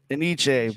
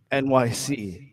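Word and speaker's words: Enyce: um yeah whoops everybody everybody called it aniche but it's actually NYC um so if you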